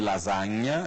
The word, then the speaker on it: lasagna: Então, lasanha, por exemplo, que em italiano se escreve com S e com GN, lasagna, é assim que se fala em italiano. O GN em italiano corresponde ao NH em português.